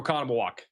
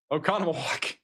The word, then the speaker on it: Oconomowoc: Middle, right is kind of the general area that we're looking at right now for a tornado here near Oconomowoc.